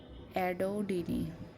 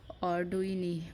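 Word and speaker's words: audouinii: ডিস্টটাম ফেরুজিনি আরেকটা হচ্ছে এডোডি উচ্চারণটাই তো মাথা নষ্ট অডুইনি উচ্চারণ হবে এটা সরি আর পিটাইডিয়াসিস ভারসিকোলর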